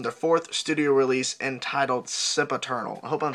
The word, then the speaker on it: Sempiternal: coming out in the fourth studio release entitled sim paternal i hope i'm saying that correct sempiternal yes i have my computer here to make sure that i do not mispronounce any names or mispronounce any song titles